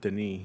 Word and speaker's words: Denis: Hugo also says he's excited for Dune because of Denis, not the books.